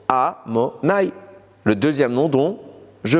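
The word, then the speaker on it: Adonai: On l'écrit Yud Ke Vav Ke, mais on le prononce Amonai, le deuxième nom dont je parle.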